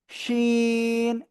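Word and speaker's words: شين: শিন। শা শব্দ করে 3 আলিফ টেনে উচ্চারণ করতে হয়।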